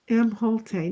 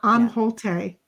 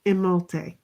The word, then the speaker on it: Imholte: Imholte, not Amholte. It's Imholte.